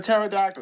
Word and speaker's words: pterodactyl: had Tyrannosaurus Triceratops for pterodactyl even though the p is silent but it's totally okay